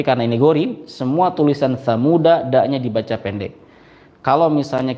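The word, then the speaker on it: ثَمُودَ: Semua tulisan samuda daknya dibaca pendek. Jadi membacanya inna samuda kafaru. Tidak dibaca begini. Ini contoh yang salah. Inna samuda kafaru. Tidak seperti itu.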